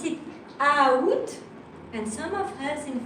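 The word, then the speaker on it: août: But you are not pronouncing the A. Okay, so you should pronounce it out, and some of us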